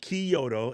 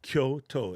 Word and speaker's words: Kyoto: from going to Kyoto it's not Kyoto it's Kyoto it's two syllables Kyoto Tokyo here's a